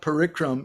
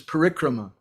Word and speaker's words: parikrama: puja and it's not parikram it's not parikram but it's parikrama and it's not poor